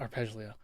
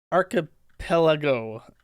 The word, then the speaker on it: Archipelago: Yeah, the Gulag not Arpeggio. Archipelago.